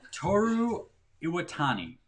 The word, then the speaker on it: Toru Iwatani: by the success holy nightmare of space invaders toru iwatani okay that's how you say his name japanese